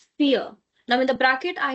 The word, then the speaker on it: vier: Number four is called "vier". Now, in the bracket I have written the like spelling or the pronunciation that it's giving. It's like "fear". Fear of English.